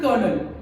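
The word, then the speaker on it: colonel: is hand कर चफ my husband is अ कर्नल तो वो स्पेलिंग है उसकी कोलोनल पर हम उसको बोलते हैं कर्नल चच चच को हम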